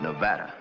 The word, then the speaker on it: Nevada: for a man from Nevada by the way that's pronounced Nevada I notice you give it the broad ah I prefer it to a dreadful flat a only the Dreadful flat